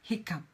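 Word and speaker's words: hiccough: are you going to know it spell it's pronounced Hickam yeah Michael hiccup American English spelling makes far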